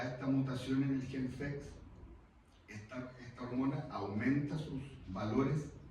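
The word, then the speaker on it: PHEX: En este cromosoma X hay muchos genes, hay un gen, que es el gen FEX, se pronuncia FEX, pero que es PHX, que tiene una mutación.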